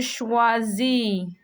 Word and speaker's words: choisis: You are not going to pronounce the T at the end. And don't forget, the first S is between two vowels and it's only one S, so it has a Z sound.